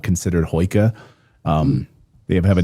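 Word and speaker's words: hygge: And even the Norwegians and the Danish have a term for that cozy lighting atmosphere called hoika. I think it's pronounced.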